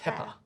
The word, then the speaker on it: pepper: I can also see double P there as well. Exactly. That's another example. So you don't say apple or pep, purr. It's just the one sound Pepper.